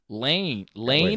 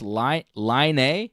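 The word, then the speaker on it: Laine: Lane? Line. Lonnie, yeah. He's Finnish. Lonnie or Yeah. Lane? Line. Yeah. Looks like Lane to me. He's Finnish. He's Finnish, so it's pronounced Line.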